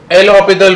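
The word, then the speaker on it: L'Hôpital: चलो ये लिख दो अरे एल हॉस्पिटल नहीं है। एल हॉस्पिटल है। एस साइलेंट है। ठीक है? तो एल ह ऑपिटल रूल।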